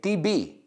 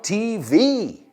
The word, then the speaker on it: TV: Oh, and cuidado, I've heard a lot of students say TB. TB, por favor, TB is corto para tuberculosis. Prefiero TV.